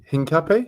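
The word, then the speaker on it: Hincapié: Hincapi? Is that how you pronounce it?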